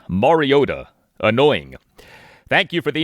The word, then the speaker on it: Mariota: Taro and Collinsworth on Sunday night for much of the game said Moriota with the T pronounced like a T.